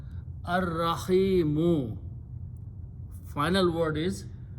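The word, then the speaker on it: الرحيم: Again, it will kill, Re will kill the sound of Lam. It will add twice the Ra itself, so it will be pronounced Ar-Rahimu. Final word is Ar-Rahimu.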